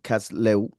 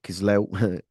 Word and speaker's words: Kislev: Now the 15th day of the month of Kislev or Kislev, many ways of people pronouncing the month.